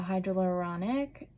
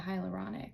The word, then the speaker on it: hyaluronic: like I I need that um and a hydrauluronic acid serum I think I said that right yeah hyaluronic acid serum butchered it a little bit but yeah so